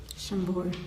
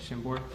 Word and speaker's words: Chambord: Chambord. Chambord.